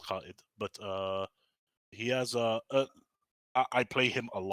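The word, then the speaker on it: Kaid: my favorite operators to play on defense is Cade. Mm-hmm. Properly pronounced Khaid, but he has I play him a lot.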